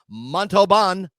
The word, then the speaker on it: Montalban: Montalban yes well our guest today is Tony montobon oh oh yes so I promised him I